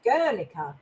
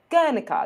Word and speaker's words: Guernica: actually the most google-searched painting in the world girlica guernica yeah and it is how that is how you pronounce it because i also googled that as